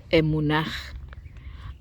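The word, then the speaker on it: אמונה: En hebreo se pronuncia emunaj, aunque a menudo traducido como fe, implica una certeza profunda, lealtad, confianza, absoluta, firme, seguro, fidelidad, estabilidad.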